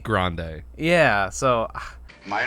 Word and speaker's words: Grandi: And he says grande, like how you would say the Spanish word. But then Janet Leigh immediately says Grandy, and I'm like, that's not what he said. And then everybody calls him Grandy after that, and his name is spelled Grandi. Like, it's not spelled Grandy. like grande.